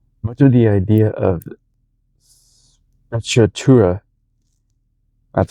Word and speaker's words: sprezzatura: Much of the idea of Sacchatura, that's how you say it, came from the world of art.